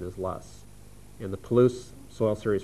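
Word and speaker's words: loess: referred to us a lus soil and lus is spelled l SS now the T would be to pronounce that as l s but the correct pronunciation is lus and the Poo soil series formation is an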